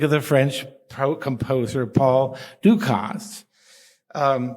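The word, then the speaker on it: Dukas: the French composer Paul Ducost. Um, it is correct to pronounce the S, by the way, I checked.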